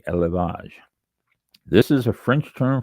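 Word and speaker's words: élevage: Let me see how to pronounce this one. Elage. E L E V A G E. Elage.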